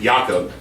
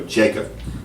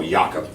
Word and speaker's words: Jakob: when you go now your name is spelled j-a-k-o-b but you pronounce it yaakov what's the worst your